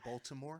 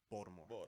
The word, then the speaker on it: Baltimore: Yeah, I used to say Baltimore, and they say you pronounce too many They letters. say no, Mr. K. Baltimore.